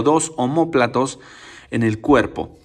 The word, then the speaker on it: omóplato: el nombre de omóplato omóplato con acento en la segunda o y sin la letra h al principio omóplato empieza con la letra o y el omóplato